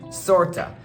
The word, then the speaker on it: sort of: You'll hear that a lot, and they're pronounced as kinda, sorta. So instead of saying I'm tired, you could say I'm kinda tired.